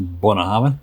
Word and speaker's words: Bunnahabhain: The pronunciation is actually quite good. It's actually Bunnahabhain.